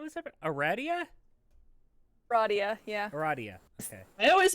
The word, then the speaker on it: Aradia: of things how is that eradia radio yeah eradia okay i always pronounce it a radio radiation irradiation humor ga okay and this is